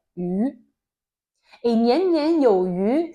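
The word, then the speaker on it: 鱼: Le poisson a la même signification que l'abondance en chinois, car la prononciation est la même. On s'appelle yu.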